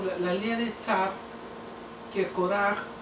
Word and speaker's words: Kóraj: Entonces miramos aquí nosotros por la línea de Tzar, que Koraj o Coré, pronunciado en Reina Valera, está simplificado como, vaya la expresión, no es para ofender, sino como un levita más.